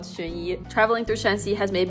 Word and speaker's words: Xunyi: name that I didn't even know how to pronounce at first, because what are these characters? Anyway, it's actually called Xunyi.